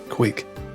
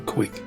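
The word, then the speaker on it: cúig: Quig. The correct answer is a quig. Quig. You may hear it as being pronounced quig, quig, or quig.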